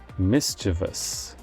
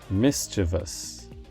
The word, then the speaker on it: mischievous: nine is another adjective it's a three-syllable word that is often mispronounced as a four-syllable word and it means showing a liking for causing trouble in a light-hearted way the correct pronunciation is mischievous mischievous for example the